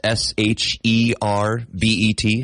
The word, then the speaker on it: sherbet: not ice cream but it's s h e r b e t sherbet not sherbet it's sherbet is it we add an extra R in there why aren't we saying